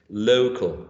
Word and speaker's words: local: The stress in the first syllable, no locale, local. This is what this diacritic mark is showing, right? The primary stress is in the first syllable, local, okay?